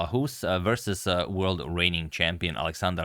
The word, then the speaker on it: Ahues: game from round 9, Ahues, or rather Karl Ahues, I think I've been mispronouncing it so far, it's Karl Ahues versus world reigning champion Alexander Alekhine.